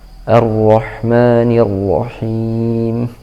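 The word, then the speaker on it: الرحمن الرحيم: Baiklah, yang pertama yang harus kita perhatikan adalah pengucapan hamzah di awal ayat agar diucapkan dengan jelas, dengan hentakan a, meskipun tidak terlalu dihentak gitu ya. Cukup a, dan suaranya tipis, bukan arroh, tapi arroh, seperti itu.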